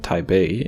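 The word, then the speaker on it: 台北: It's Taipei People by Pai Hsien-yung, although that is of course Táiběi Rén, not Taipei but Taibei in Chinese, and the correct pronunciation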